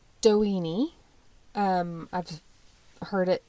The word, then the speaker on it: Doheny: okay so Edward L doen um I've heard it pronounced multiple ways but that's how I'm going to pronounce it because it sounds like weenie okay and I'm 5